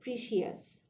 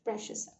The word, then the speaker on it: precious: So উচ্চারণটা দেখবেন, precious, অনেকে বলে precious, এটা হয় না, এটা হচ্ছে প্রেশাস।